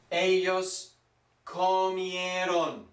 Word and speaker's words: comieron: We've got a whole mouthful of vowels here. Ellos comieron. O, I, E, O. Four vowels, and you must pronounce them all. Remember, keep your mouth open in pronouncing Spanish.